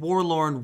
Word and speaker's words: Worlorn: And Warlorn rhymes with forlorn, which means abandoned or lonely.